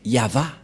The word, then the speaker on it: Yahvah: V et et la prononciation de ceci c'est yava voilà la prononciation de